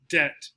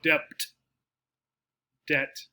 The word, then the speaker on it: debt: to owe somebody money the b is not pronounced so it sounds like these brackets here tell you that i'm spelling out the word how it sounds so it sounds like this debt no b no debt